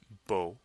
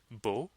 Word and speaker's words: beau: adjectives like beautiful or handsome so handsome is Bo and beautiful is Bell handsome of course being the masculine version and beautiful being the feminine version so one more time it's Bo or B and the plural forms have the